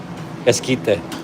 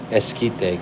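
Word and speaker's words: esquite: Eskite. The Q. The Q is silent. Eskite.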